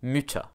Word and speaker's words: Mütter: chern meaning beautiful motta muta ah did you hear that the vowel sound changed with the addition of the umlaut there was a sound